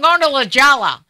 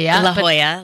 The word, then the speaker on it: La Jolla: College Ella oh yeah I kept say I'm Lorna with Jawa but it's La Jolla La Jolla La Jolla